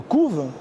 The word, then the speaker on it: couvent: Mais ce ENT ne se prononce pas tout le temps. Quand vous le dites oralement, si vous dites par exemple les poules couvent, le couve, c'est pas perceptible à l'oral que ça finit par ENT.